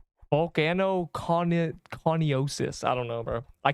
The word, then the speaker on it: coniosis: It is coniosis. That sounded weird. It sounded like, yeah, I feel like Coney Island is how that's meant to be spelled, but I guess not.